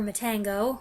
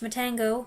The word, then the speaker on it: Matango: Next, we went for Matango, or Matango, which my mom and I had previously watched in English as Attack of the Mushroom People.